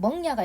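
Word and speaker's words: 萌芽: 자, 그 다음에 이게 중요한 게 뭐냐면 멍야가 있습니다. 발음 조심해야 되겠네요, 여러분. 왜냐면 이 글자가 발음이 밍인 줄 알았더니 발음이 멍이잖아요.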